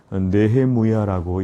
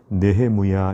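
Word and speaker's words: נחמיה: 대한 부분이 나와 있습니다 명칭의 히브리어로는 뇌해무야라고 이렇게 발음합니다 뇌의무야 이렇게 발음을 하고 그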